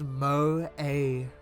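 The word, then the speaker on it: 萌え: of girl it's called Mo pronounced Mo with a long o followed by a long a what the [ __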